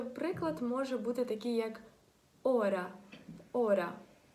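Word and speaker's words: hora: Приклад може бути такий як «ора». «Ора». Тут він теж не вимовляється.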